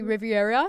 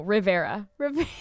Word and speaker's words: Rivera: Riviera is that your how do I say your last name Rivera pheromone Riviera manana like or when Garrett couldn't pronounce my name for the first year I era no Rivera there's only what you know